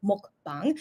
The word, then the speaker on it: mukbang: on this short mukbang sorry it's pronounced in Korean mukbang so thank you for